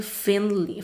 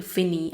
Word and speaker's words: Finney: see you once again finley finney i think that it's the way that it's pronounced his full name and